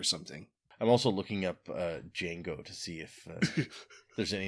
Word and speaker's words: Django: But the baby's name is Django El Tahir El Siddig. Ooh, like Jango Fett? No, like Django Unchained. Ah, cool. The D is silent.